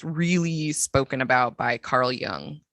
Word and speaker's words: Jung: So for those of you who aren't in the depth psychology field, you will recognize his name as being spelled Jung, pronounced Jung, and probably not even pronounced that because I speak English and I'm not good at it.